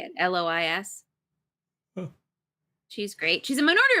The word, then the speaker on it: Lois: how to say it l-o-i-s she's great she's a Minority Report which I just rewatched oh l-o-i-s uh-huh Lois Lois like Lois Lane sailor was stabbed to